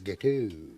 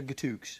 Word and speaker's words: gâteau: idiot or anything, but I think you'll find it's gâteau. Gâteau? Yeah. Oh, I see, Yeah, right. the X is silent. I thought with your French-Canadian connection you would have known that. Gâteau. So it's gâteau as opposed to gatooks?